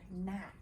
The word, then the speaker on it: gnat: But this letter is silent. It's a silent G. It doesn't make any sounds. So it's not a gnat, it's a gnat.